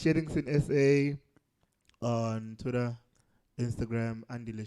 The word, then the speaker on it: Shellingson: Stop calling me Shellington. People do that a lot. Shellington. I'm Shellingson, SA. Okay. Shellington. Shellingson. Shellingson. Okay, you just spell that out for the listeners who want to follow you. SHELLINGSON, not TON.